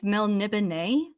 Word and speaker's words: Melniboné: I think it's Melniboné. Melniboneans. Pronounce it like a French person. Right. I always said Melnibone, and then they meet